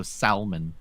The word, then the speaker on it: salmon: the W and sword also used to pronounce the L in Salmon so salmon she was really bad